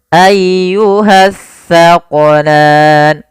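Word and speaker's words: أَيُّهَ الثَّقَلَانِ: Dan hati-hati dalam melafalkan huruf sa. Jangan sampai kita membacanya dengan huruf sin. Nah, sering terjadi kesalahan, banyak di antara kita membaca huruf sa dan sin dibaca sama padahal dia berbeda.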